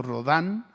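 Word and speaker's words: Rodin: O piense usted, hay un ah también otro escultor que se llama Augusto Rodán. Se escribe rodín y si lo busca usted tiene una escultura famosa entre varias que se llama El pensador de Rodán.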